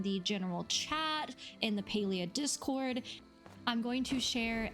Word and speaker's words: Palia: mispronounce the game, and the way it is pronounced is Palia.